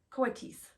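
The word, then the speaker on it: coatis: Mrs Brisbane instead of reading from the letter pronounced Coates the Coates looked weird Miss Matt looked gorgeous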